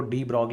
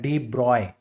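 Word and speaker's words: de Broglie: नाम है डी ब्रॉग हम यहां पे इंडिया में इनको डी ब्रॉग बोलते हैं बाहर प्रोनाउंस किया जाता है डी ब्रॉय ठीक है ना फ्रेंच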